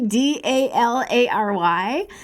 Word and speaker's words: Dallary: There's Dallery, rhymes with Mallory, Dallary.